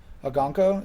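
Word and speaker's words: Okonkwo: Agonko? That's how you pronounce it?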